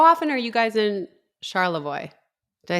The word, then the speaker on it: Charlevoix: How often are you guys in Charlevoix?